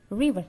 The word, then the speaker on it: river: River. R-nya seperti biasa. In English, huruf R kita agak simpan, lidahnya agak ke atas sedikit, kita simpan di dalam mulut. Jadi R-nya tidak jelas. Bukan river, no, but river.